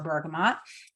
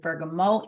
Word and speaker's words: bergamot: So aromatic, topical, and internal for our bergamot. Some of you will be pronouncing it bergamot. Either one is completely correct.